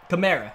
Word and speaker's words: Kamara: this to see what's the correct pronunciation of Alvin cámaras naming chimera himself said chimera is what he said so I'll go